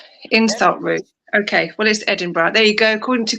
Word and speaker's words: Edinburgh: Okay, what is Edinburgh?